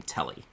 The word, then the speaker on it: Tele: the name for me t-e-l-e is it teal is it tele okay so my standpoint on name pronunciations is that however you want to pronounce it I don't care whatever okay makes it happen for you I personally personally pronounce her name telly Telly okay so we